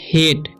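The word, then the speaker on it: hate: ठीक है, इसे पढ़ते हैं हम लोग हेट।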